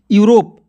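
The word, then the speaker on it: Europe: RO से होगा दोस्तों रो, और P से प, और यहाँ पे E जो है साइलेंट रहेगा, यहाँ पे E जो है साइलेंट रहेगा, ठीक है। तो क्या हो जाएगा दोस्तों, यूरोप।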